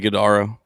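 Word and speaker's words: Ighodaro: Isaiah, is it a uh is it Idaro?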